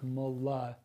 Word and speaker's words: molybdenum: So let's think about molybdenum. Funny word, but promise you can say it. So molybdenum. It's spelled like Molly, but it's like molybdenum.